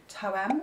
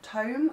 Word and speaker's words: Toem: The first game I completed was Toem, or Tome I think it's pronounced, and that is a